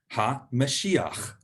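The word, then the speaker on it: המשיח: So the Messiah in Hebrew is Ha-Mashiach, Ha-Mashiach. And you can see there, you're starting to learn a little bit of Hebrew grammar, that the in Hebrew is ha. So the Messiah is Ha-Mashiach.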